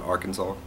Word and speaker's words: Arkansas: on the end like the silent s on Arkansas so anyways I've blah